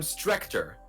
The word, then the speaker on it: Strector: Hey, I'm Strector." The rhymes with Vexler.